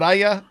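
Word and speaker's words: Yahya: Aya Black, is it yaya? Y if I pronounce it right? Y it's almost like the letters y a but you kind of say yay instead of a yay.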